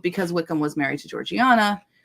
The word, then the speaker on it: Georgiana: Wickham was married to Georgiana um or Georgina I know it it aggravates people the way that Georgina is the way that uh English people pronounced that name um it's a whole